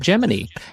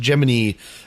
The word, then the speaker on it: Gemini: of Damian Giselle and at the time there was a large contingent of the population that actually pronounced it Gemini and so it is